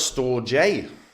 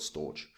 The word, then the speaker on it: Storj: Peak to Peak uh pronounce store J pronounce the store J now okay that's changed recently uh opens I'm still going to call it storage like um so it